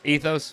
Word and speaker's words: Ethos: brewing is it pronounced ethos yeah it is just like the insurance company or the water that Starbucks sells ethos is we're probably